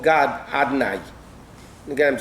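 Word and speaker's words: Adonai: We don't pronounce it the way Yud Kei Vav Kei is voweled.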